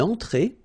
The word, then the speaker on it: entrée: Then une entrée. Une entrée. Okay, remember, well, technically this final here is not pronounced, so phonetically it doesn't exist, so it's et, okay? Entrée. Remember, nasal here, en, entrée.